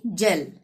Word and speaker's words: gel: ठीक है, GEL, जी के बाद ई आया तो ज का उच्चारण, यानी जेल।